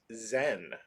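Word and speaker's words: Zsen: of a new character whose name is weaponless zen so it's spelled not zen like it's spelled close with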